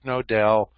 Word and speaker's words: Knowdell: You can search for Dick Nodell. Nodell is spelled Knowdell, and you can take it online.